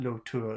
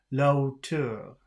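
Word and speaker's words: la hauteur: different is that um if you weren't pronouncing the H or if the H had no value then it should be like one word like lotu but it's not Lo tour it's low too low too suddenly there's a new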